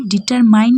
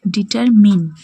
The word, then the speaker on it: determine: এটা অনেকেই ডিটারমাইন উচ্চারণ করে থাকে। কিন্তু আসল উচ্চারণ হবে ডিটারমিন।